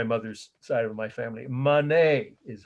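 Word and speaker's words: Manet: there it's my mother's side of my family monet is how you pronounce it m a n e t 1863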